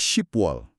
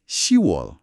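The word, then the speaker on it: 시월: Angka 10 itu ship. Harusnya ship wall. Tapi, tapi pengucapannya menjadi shewall. Shewall. Huruf P di akhir kata ship juga hilang ya. Tepat sekali. Ini untuk kelancaran pengucapan saja.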